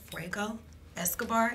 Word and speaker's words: Fuego Escobar: And today I have Fuego Escobar in the building with me, and we're gonna see what he got going on with his Comeup.